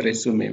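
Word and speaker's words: résumé: verb we also have a noun with the same spelling but the pronunciation is a resume which is from french now let's continue with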